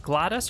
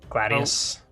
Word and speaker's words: gladius: Is it Gladys or Gladius? Gladius.